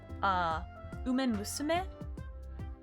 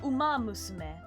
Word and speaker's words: Uma Musume: Umen Musume? Am I saying that right? I might be pronouncing that wrong, hold on. Oh, Uma Musume.